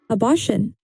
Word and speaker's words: abortion: How do we say this word? Listen carefully. Abortion. Say it slowly. Abortion. The stress is on the middle part.